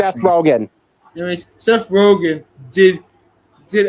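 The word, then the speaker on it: Rogen: I forgot how you pronounce his last name. Seth Rogan.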